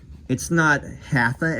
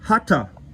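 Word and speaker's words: हठ: Then you can maybe say, but you don't have to go around saying, no, it's not hatha, it's hatha.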